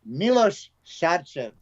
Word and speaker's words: Milos Sarcev: Yes, sorry, we had a little discussion about how to pronounce names, didn't we, Milos? Yes. So it's Milos Sarcev.